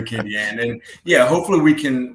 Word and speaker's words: Acadian: And and people try to get fancy with Distillery Khan, you know, and you said it right. Distillery Kyan.